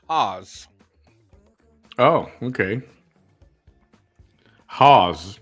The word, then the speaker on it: Haus: Vanessa pronounced it as house okay it's Haus is actually German and it's pronounced Haws oh okay Hawes not